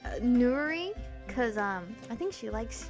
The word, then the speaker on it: Nerui: Nerui.